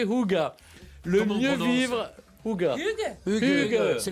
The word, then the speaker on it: Hygge: Ils disent prononcez Hygge.